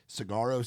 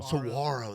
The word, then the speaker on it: saguaro: Ground, Give Me Some Whiskey, Cry Cowboy Cry, Cigarro Sunrise. Is that how I say it right? Saguaro.